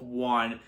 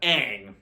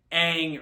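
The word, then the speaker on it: Aang: that this movie has you have Ang who's pronounced as on Avatar is pronounced as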